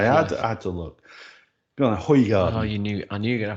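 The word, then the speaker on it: Hoegaarden: Hoygaard. Correct. That is the correct pronunciation.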